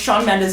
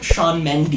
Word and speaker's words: Shawn Mendes: you watching so funny he's pronounced Shawn Mendes his name like Chum Mandy you leaving fans are